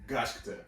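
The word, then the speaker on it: Gachiakuta: Gachikuta. Gachikuta. Okay, now I know how to say it. Gachikuta.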